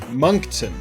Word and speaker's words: Moncton: tells me is it moncton not moncton yeah moncton okay okay well my um yeah my my english background says that's spelled incorrectly but we're going to roll with